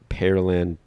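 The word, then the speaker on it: Pearland: Steely grew up in perland perland Texas or perland it's spelled like the fruit peir perland so perland think perland Texas and is a graduate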